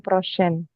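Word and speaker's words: prochaine: ini ee kayak ee Jadi kalau ada huruf e setelah n atau setelah m nanti enggak kebaca Eng enggak kebaca sengal kebacanya huruf kembali lagi ke n atau m lagi ya itu di siniar itu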